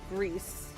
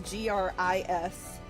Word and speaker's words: Gris: So we are going to be playing a game today called Grease. That's how I've heard it pronounced, like cooking grease, but it's Gris.